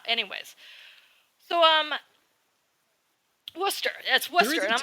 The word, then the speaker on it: Worcester: Anyways, so Worcester. That's Worcester. There is a town called Worcester.